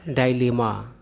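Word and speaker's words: dilemma: है उसके बाद है डाले मा इसका अर्थ होता है दुविधा इसको आप डिलेमा भी पढ़ सकते हैं मतलब डाले और डिलेमा दोनों ही सही उच्चारण है उसके बाद है वकेड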